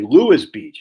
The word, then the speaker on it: Lewes: Pronounced like Lewis Beach.